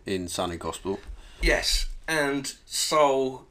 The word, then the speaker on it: Sol: Yes, and Soul, it's spelled S-O-L, but it sounds like Soul from Soul Asylum.